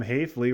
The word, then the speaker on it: Hayley: Maryland uh led by Jim Hayley rhymes with safely finished second in Atlantic League this year uh and al along with with Jeff Watkins.